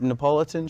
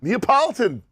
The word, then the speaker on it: Neapolitan: videos around you don't know what Napolitan shake is how do you say it then Neapolitan oh okay well there